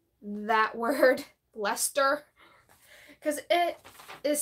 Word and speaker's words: Leicester: William Johnston's A Pronouncing and Spelling Dictionary, 1764, notes that the C is not pronounced in the words such as Leicester, Gloucestershire, Worcester?